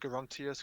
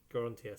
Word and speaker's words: Garantius: It's literally just Garant with the US at the end. Nice. But it's pronounced Garantius because Latin is weird. There you go. It's done. Garantius.